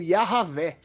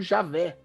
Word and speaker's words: Yahweh: Yahweh. Yahweh. Alguns falam como Yahavé, né? E alguns falam como Javé. Né?